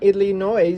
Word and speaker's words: Illinois: from my sissy in Illinois. The S is silent, so that was intentional.